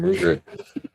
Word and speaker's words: Ruger: Some Ruger. Yeah. Yeah. That's how you pronounce it.